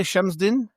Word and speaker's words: Chemsdine: But today we are here to talk about did you say Chemsdine? Chemsdine Talbi? Yes. Chemsdine. I will get used to that. Again, my listeners know that I cannot pronounce anything correctly, so it'll probably take 2